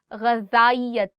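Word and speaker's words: غذائیت: There are two alphabets in Urdu. One is ze and one is zal. And there is a slight difference in how you say it. For example, in this one, you are saying ghazayat. And the one that is ze, that is very, very sharp, very sharp.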